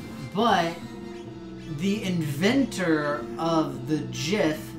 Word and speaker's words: GIF: matter so grammatically speaking yes it is gif but the inventor of the jiff says that it is pronounced where they heart you now he is